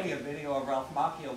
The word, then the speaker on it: Macchio: It's Macchio. Of that's how it is. He... Of course it is. That's how he pronounces his name.